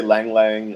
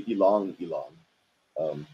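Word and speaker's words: ylang-ylang: People will say lang lang or why lang. The people who grow it tend to say ilang ilang. Although I don't want to bust on anyone for saying it wrong.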